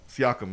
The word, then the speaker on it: Siakam: And Siakam. I think that's how you say his name. He's doing everything. Pascal Siakam. Siakam, yeah, there you go.